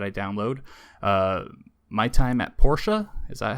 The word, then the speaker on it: Portia: My Time at Portia, is that how you say it?